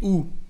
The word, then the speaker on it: où: ¿Dónde se dice où? Pero où con un acento en la U para no confundirlo con la palabra que significa o.